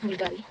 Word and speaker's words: Bvlgari: siya bulgari daw sa brand mahal ba ng bulgari sila mahal daw so siya bulgary.